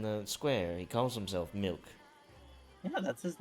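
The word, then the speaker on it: Mylk: we we we it's it's the same pronunciation but it's different spelling hole that's a weird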